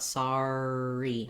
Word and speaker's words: sorry: the r sound here you could also write it like saw re thinking about that just ah sound and the r starts the next syllable we go in and out of that r so i have an r and i have a re i just don't want sorry not too much r lightly come in from